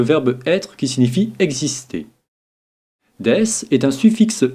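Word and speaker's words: です: bien regardons maintenant death des se prononcer deiss est un pronom est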